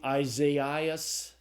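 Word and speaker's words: Ἠσαΐας: the second vowel to say this isn't a diff thong is actually two vowels and what's going to happen is that you'll salabify between those two uh vowels. So the the name Isaas is how you would say uh the name of the prophet AIS.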